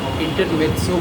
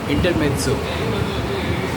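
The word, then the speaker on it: intermezzo: वो उस ऐसी इंटरल्यूड को जो उससे असंबंधित लगे, छोटा सा पीस हो, उसको संगीत में इंटरमेत्सो बोलते हैं, जबकि त की है नहीं स्पेलिंग में, MEZZO, इंटरमेत्सो।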